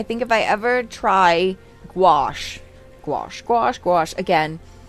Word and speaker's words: gouache: I think if I ever try gouache gouache gouache gouache again. I heard someone pronounce it gage and I hated that.